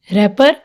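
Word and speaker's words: wrapper: रैपर, आर से पहले क्या आ रहा है? डब्ल्यू, तो इसमें डब्ल्यू साइलेंट है। रैपर, रैत, रीत, wrench, ring, road, wrist, Regal, wrinkle, wrestling, playwright.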